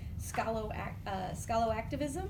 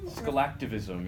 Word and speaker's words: Scalactivism: His most recent publications include an edited collection, Scalo-activism. Scalactivism, yeah. I knew I wasn't going to pronounce it right. Yeah, there you go. But you get the idea, Scalactivism.